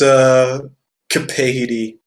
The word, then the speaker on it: Kapadie: It's Kapadie. That's how it's pronounced, but you guys can seriously just call me.